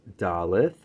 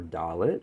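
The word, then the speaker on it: Daleth: at this card and this is dolleth or dalit however you'd like to pronounce it and this Venus is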